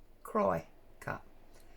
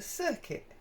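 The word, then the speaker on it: Cricut: here tomato tomato um I've always referred to it as a cry cut because that's how it's spelled c-r-i c u t cry cut and yet most of the time when you hear people talk about it on YouTube they refer to it as a circuit so I don't know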